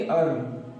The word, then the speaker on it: earn: तो दोस्तों हमारा तीसरा रूल ये होता है कि अगर E के बाद ER आ जाए तो उसमें हम E का उच्चारण नहीं करते हैं।